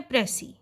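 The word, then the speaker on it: précis: और हम भी पहले प्रेस इसे मुतालिक इंट्रोडक्शन ही देंगे तो सबसे पहले बात आती है उसकी प्रनंसीएशन कि अ है तो उसकी प्रनंसीएशन में जो उसका लास्ट लेटर एस है वह साइलेंट होगा का यूज लिया है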